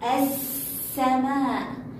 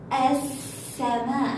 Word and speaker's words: السماء: لو قلت لكم كلمة السماء، السماء، هل لفظنا اللام؟ لا، إذن هي لام شمسية.